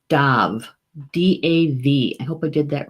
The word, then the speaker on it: Damh: stag is pronounced Tov DAV I hope I did that right Dov DAV is the phonetic spelling of it and the Gaelic spelling is D am h d am H but it's pronounced dove in English it's tag